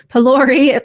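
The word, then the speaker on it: pholourie: And yes, I looked up how to pronounce that. Palori pineapple triny chow, Queens Park swizzle, and carob logger.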